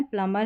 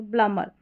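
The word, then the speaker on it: plumber: सही जो इसका उच्चारण है प्लमर है क्योंकि एम के बाद बी है और बी साइलेंट है। तो प्लमर फिर यहां पर देखें तो यहां पर इसको सकम नहीं बोलेंगे।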